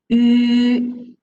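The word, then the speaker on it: ü: The pronunciation for this one is yu. So as I'm telling you, yu, this pronunciation. If you don't know how to pronounce, then we can starting from the letter E at here. So you read E first. Then after that, so you slowly circle your lips, okay, to the end.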